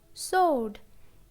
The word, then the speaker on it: sword: Answer, to, and sword. In these words, letter W is silent. Answer, W is silent. To, W is silent. Sword, W is silent.